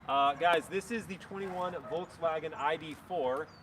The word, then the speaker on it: Volkswagen: Guys, this is the 21 Volkswagen ID.4. It's Volkswagen's first, that's a fun one to say, Volkswagen. If you want to say it correctly, it's Wagen, Volkswagen.